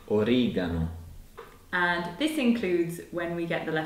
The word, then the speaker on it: oregano: Most of the time, it's a hard G sound. Like in oregano.